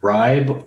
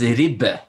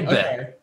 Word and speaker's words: ribbe: The first one is ribbe. Oh, so you have to say rib, like you're saying ribs. Rib. And then be, like babe. Okay. Ribbe.